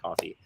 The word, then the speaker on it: Ko-fi: Yeti on Patreon or Ko-fi, however you want to pronounce it. I pronounce it coffee.